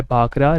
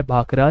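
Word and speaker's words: भाखड़ा: वो भांगड़ा है, और जो भांगड़ा है उसका प्रोनाउंसिएशन लगभग सिमिलर है भाखरा से।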